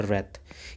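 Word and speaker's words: wreath: माला होती है उसे बोलते हैं व्रत क्या बोलते हैं डब्लू साइलेंट रहता है व्रत होते हैं ठीक है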